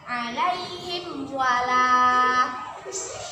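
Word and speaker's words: عليهم ولا: huruf wow hai nah kita baca dengan jelas tanpa berdengung alaihim walaa ilhwal ah alaihim walaa jelas tanpa berdengung kalau kita membacanya ilaih hai swalla itu berdengung itu sah salah yang benar alaihim walaa contoh yang lain perkalian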